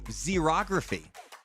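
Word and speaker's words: xerography: this it's it's uh spelled with an x x e r o graphy it's a technique that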